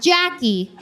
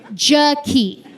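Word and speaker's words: Jakee': Not Jackie, Jackie. It's spelled J-A-K-E-E'. Extra. You guys, the apostrophe in her name does not do anything.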